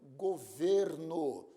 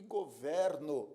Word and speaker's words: governo: sentido também por exemplo governo substantivo e governo verbo eu governo a minha casa o verbo governar pronúncia aberta governo o governo brasileiro pronúncia fechada o substantivo olho e